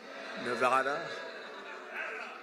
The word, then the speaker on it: Nevada: Nevada?